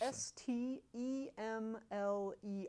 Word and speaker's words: Stemler: S-T-E-M-L-E-R, Stemler.